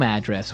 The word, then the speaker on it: address: different from your home address where you live yeah and there the stress is on the first syllable address right perfect very good okay